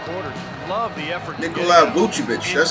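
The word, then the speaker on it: Vučević: Nikola Vucevic. That's how you pronounce his name.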